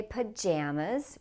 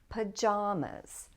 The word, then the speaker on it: pajamas: I say pajamas with the a sound in the second syllable, pajamas. But a lot of people say pajamas, pajamas. And you can say it either way.